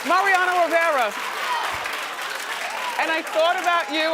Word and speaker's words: Mariano Rivera: Say it right, say it right. Mariano Grande. Rivera? Rivera. No. from the Yankees? Yes, Mariano Rivera.